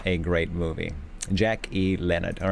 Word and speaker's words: Jack E. Leonard: I've been saying his name wrong. So, oh boy. I was saying Leonard E. something or other. I was getting no, it's not. It's Jack E. Leonard.